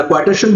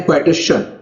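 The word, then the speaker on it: quaternion: ठीक है, ये है क्वार्टेशन, ओके, क्वार्टेशन। इसमें आर बच्चों साइलेंट होता है क्वार्टेशन।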